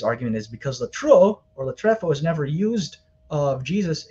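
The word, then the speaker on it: λατρεύω: being tossed around, like latruo or latrefo, if you want to use the proper Koine Greek pronunciation.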